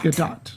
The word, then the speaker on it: Gadot: Gadot. That's how you say her name. Gadot.